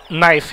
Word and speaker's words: knife: Que se escreve knife, mas lê-se knife em inglês.